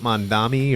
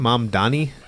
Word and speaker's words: Mamdani: You want to do the Ukraine one first, or should we do the Trump Mamdani or Mom? How do you say his name? Mamdani.